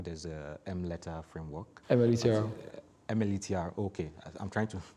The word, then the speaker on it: MLETR: MLETR, okay. I'm trying to pronounce it. I used to call it M-letter before.